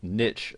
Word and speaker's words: niche: And first and foremost, you'll need to decide what your niche, or niche as some people pronounce it, is going to be.